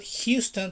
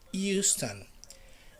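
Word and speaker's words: Euston: not like in the united states it's not houston texas no it's not houston because it doesn't have an age it's just the e right so it's houston houston houston station how we don't have to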